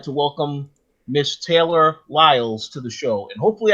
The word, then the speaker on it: Wiles: today I would like to welcome Miss Taylor Wiles to the show and hopefully I pronounced the last name correctly because I do